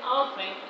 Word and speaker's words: often: The stress in often is just in the first syllable.